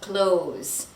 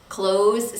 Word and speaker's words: clothes: And finally, we have close. Close sounds just like close the door. Close, close. Don't say the TH sound.